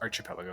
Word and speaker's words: archipelago: I think it's Archipelago, isn't it? I think it's a k sound.